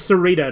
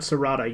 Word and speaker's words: Sarita: Also, it's Sarita, not Sarata.